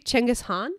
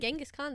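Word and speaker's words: Genghis Khan: like that I think it's actually chenas Han like you don't actually say the K oh so that's something I learned genas Khan this whole time yeah genas Khan is not probably how you pronounce it but that's how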